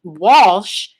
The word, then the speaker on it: Walsh: I say that because it's such a common name, and people will still say Walsh, and they'll pronounce it Welsh.